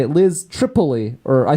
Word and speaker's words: Tripoli: Tripoli. Like 3 E's in a row.